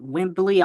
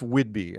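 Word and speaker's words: Whidbey: too because you're from I don't know how to pronounce it wimbly on no it's um it's Whidby uh it's Northwest Northwest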